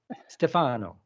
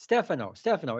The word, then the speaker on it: Stefano: Um, and I got the name wrong at the first, but it's S- Stefano. No, that's wrong Stefan, again. It's Stefano. wrong again. Stefano.